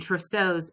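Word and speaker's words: Trousseau: is it on the screen no okay shastic is spelled c h v s t e k and tros is t r o u SS e Au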